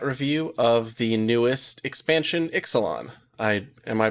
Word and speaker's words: Ixalan: also do that but the more common way for it to be pronounced would probably be exelon gotcha all right well